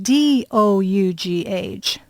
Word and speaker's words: dough: And then D-O-U-G-H.